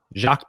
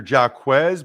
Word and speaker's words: Jacques: could be jacques patrick it could be sometimes guys are jacquez but he is j-a-c-q-u-e-s so i'm gonna go jacques but a lot of